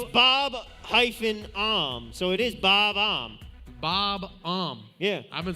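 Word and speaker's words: Bob-omb: Bob-Om, so it is Bob-Om.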